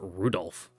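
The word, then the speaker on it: Rudolf: tell you that that mess of character is pronounced Rudolph must hate grandfather for giving him that name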